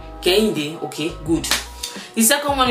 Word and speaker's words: Kehinde: Please pronounce it very well. So my Nigerian name is actually Kehinde.